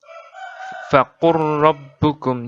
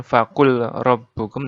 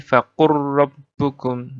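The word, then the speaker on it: فقل ربكم: Di Al-An'am 147, faqur rabbukum. Jadi bukan faqul rabbukum, tapi faqur rabbukum.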